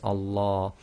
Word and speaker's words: Allah: And the ruling is, whatever the sound is before the lam of Allah, i.e. the shaddad lam, if it's a fatha, as we would read it in this case, then the lam of Allah is read as tafkhim. And remember, the tafkhim sounds are heavy, i.e. full mouth.